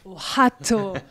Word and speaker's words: Ohotto: C'est comme ça qu'on prononce son prénom ? Ohato. Ohato.